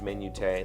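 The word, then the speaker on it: minutiae: tiresome minutia m-i-n-u-t-i-a-e uh i've also have i not also heard that pronounced menute like do people say it it is is menute an acceptable pronunciation of minutia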